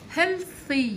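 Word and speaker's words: healthy: ده صحي مفيد لجسمنا التي واليش بيتنطق بصوت حرف الث هلثي هلثي هلثي هيلثي لما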